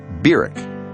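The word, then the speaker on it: Barack: August of 1959 was berck Hussein Obama that's how he pronounced his name Beck he was welcomed at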